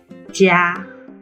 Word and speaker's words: 茄: 茄 qié có cách phát âm khác, và đó là 茄 jiā.加 jiā là phiên âm của 茄 jiā.